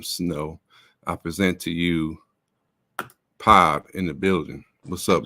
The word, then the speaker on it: PAB: Yeah, it's PAB. A lot of people think it's PAB and shit like that.